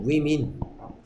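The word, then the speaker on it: women: 그렇죠, 위민. 그러니까 워먼, 위민. 맞습니까?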